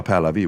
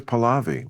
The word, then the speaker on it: Pahlavi: I thought it was Pahlavi was their name. Pahlavi. But Americans say Pahlavi. We say Pahlavi.